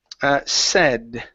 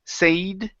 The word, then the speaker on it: said: good next one is said okay so this word here instead of instead of pronouncing it with a long a saying say ii sayd okay it's a short e sound I said said said